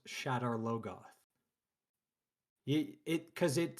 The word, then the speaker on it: Shadar Logoth: And this, more than any mispronunciation, grates on my nerves cuz it's not Shadar Logoth. It's Shadar Logoth.